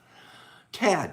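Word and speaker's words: Thad: on here t-h-a-d cad i have still have a hard time pronouncing your name because that h throws me off i see it in my head but you don't pronounce it okay um what a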